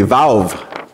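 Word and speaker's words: ו: It's actually valve. It's almost like you say the V on the end of it, although we spell it V-A-U, but it's another letter in the Hebrew alphabet.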